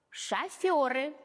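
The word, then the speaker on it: шофёры: Шофер, шоферы.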